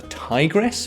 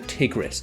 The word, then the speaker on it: Tigris: Euphrates river system and over here in the west it's sometimes pronounced The Tigress but in Syria and Iraq and those regions of the world they prounce it the tigis so that's the pronunciation